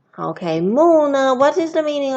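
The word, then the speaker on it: 木: Okay, mu. Okay, mu.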